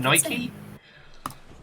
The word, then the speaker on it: Nike: how they pronounced it like Aphrodite pronounce the E aphro Nike yep because Nike uh